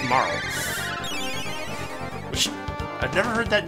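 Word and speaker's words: Marle: By the way, I looked up her name. It's pronounced Marl.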